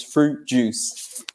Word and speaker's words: fruit: always keep his example so Tom Cruise drinks fruit juice they get the three years cruise fruit juice so we don't pronounce the I yeah yeah same with the